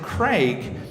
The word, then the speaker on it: Craig: Fortunately for me, I pretty soon realised that Craig was actually a difficult name to say, and was their pronunciation of my name, and not actually my competition.